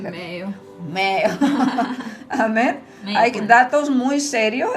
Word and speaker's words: Mayo: como la clínica Mayo, que se dice Mayo en español, ¿cómo se dice en inglés? Mayo.